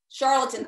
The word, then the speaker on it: charlatan: how do you say that word tarl charlatan charlatan thank you and a starvation advocate so i